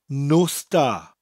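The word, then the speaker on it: nos da: buh duh buh finally we have the phrase no star which means goodnight no star now it sounds like I'm saying there are no stars in the sky no star but it's spelt nos Norse followed by da knows meaning night da meaning good no star no star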